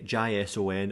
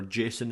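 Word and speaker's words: JSON: type up here typically a gi son or jason as i pronounce it and many people do typically that is um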